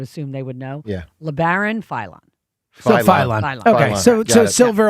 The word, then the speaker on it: Labaron Philon: Labaron Philon.